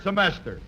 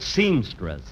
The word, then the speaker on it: semester: This his third semester. Oh, Phil. Uh, say that word again, will you? Semester. Say it once more. Semester. You know, folks, at rehearsal, he kept pronouncing it seamstress. Imagine seamstress.